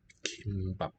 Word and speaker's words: 김밥: Okay, seaweed food is kimbap, or seaweed rice.